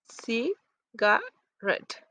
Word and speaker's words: cigarette: Um, for example, cigarette. The third syllable red is more prominent than the first one, and we have many kinds of syllables that are stressed.